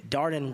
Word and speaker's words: Darden: As I said, being a former kindergarten teacher, My students used to say, Darden rhymes with garden.